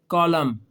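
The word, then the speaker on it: column: वो है कि एम के बाद अगर एन आ गया ना तो फिर एन साइलेंट हो जाता है। एन क्या हो जाता है? साइलेंट कैसे कॉलम इसमें एन नहीं बोल रहा अगर आप गौर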